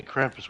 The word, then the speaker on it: Krampus: Why do you say Krampus weird? That's a German pronunciation.